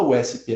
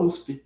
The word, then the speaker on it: USP: USP, a gente não fala USP, a gente fala USP.